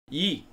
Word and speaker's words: Ye: Yay. Yay. Yay. Yay. So it's pronounced yay, as in Kanye.